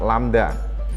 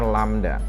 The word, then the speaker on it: lambda: Atau istilahnya dituliskan seperempat lambda. Ini membacanya lambda. Lambda.